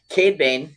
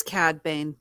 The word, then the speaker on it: Cad Bane: Cade Bane. It is Cad Bane.